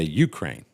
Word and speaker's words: Ukraine: news now say Ukraine they say Ukraine not Ukraine Ukraine emphasis on the first salable what movie is that